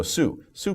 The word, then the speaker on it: Sioux: So Sioux people, but we pronounce it Sioux.